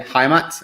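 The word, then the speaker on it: Heimat: we were just discussing how to pronounce that because it's a swiss name is it haimat or yes yes you you have it completely right nailed it on the first try uh can you speak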